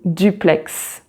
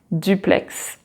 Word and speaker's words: duplex: an exception like in duplex duplex and there the x is pronounced and let's finish this